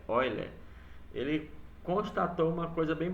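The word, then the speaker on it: Euler: assim eu tá bom a pronúncia é Oil ele constatou uma coisa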